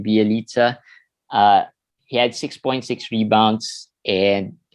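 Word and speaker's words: Bjelica: someone commented on youtube that i said his name wrong it's b eliza right that's right okay so that's the right pronunciation of his name bialitza he had 6.6 rebounds and uh 16 in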